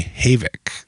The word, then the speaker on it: Havik: Like everybody Maverick's Havoc 2. Yeah. Maverick's Havoc. So, everybody calls it the Havoc, but it is named U. Matt, the owner, is named after his daughter. So, it is actually Havoc.